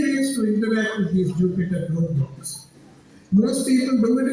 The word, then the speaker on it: Jupyter: So Jupyter sounds like a planet, but is spelled Jupyper.